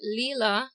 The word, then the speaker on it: Lila: again where it come from all right so Leela mhm is it's just a name I I